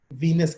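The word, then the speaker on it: Venus: यहाँ वीनस से ना एक कंफ्यूजन भी पैदा होती है, VENIC, वो इटली का एक शहर है वेनिस, उसको प्रोनाउंस करेंगे वेनिस, और जो गॉडेस है वो वीनस है।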